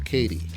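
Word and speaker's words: Cady: And I'm going to give the hero space to Katie. I think that's how they say their name, Katie. It's spelled Caddy for some reason, but I think it's Katie.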